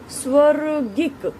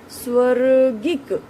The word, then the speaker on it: स्वर्गिक: उसके बाद आप देखिए स्वर्गिक, व के बाद किसकी ध्वनि सुनाई दे रही है, र की। फिर गिक, गईक, स्वर्गिक, ग के बाद ई की ध्वनि।